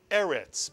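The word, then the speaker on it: ארץ: Resh, there's a segol, so we know this is a two-vowel word, therefore it's a two-syllable word. The first syllable is Mitsuyan, the silent Aleph with the segol beneath it. And the second syllable is Retz, Mitsuyan, the resh with the segol and the final Tzade, which makes the TZ, the ts sound. And so the second syllable is Retz. And therefore, if you put this word together, you get Eretz, Mitsuyan.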